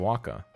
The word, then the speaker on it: Oaxaca: This Mexican cheese belongs to the pasta filata family and was created long ago in the Mexican state of Oaxaca.